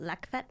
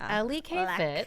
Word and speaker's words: LEKfit: K fit it's not Le fit it's not Le fit it's Ellie kfit thank you and Lauren